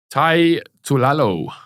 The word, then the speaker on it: Tai Tuilalo: He's fighting, how do you say this, Matthew? Tai Tuilalo. You just said it perfectly.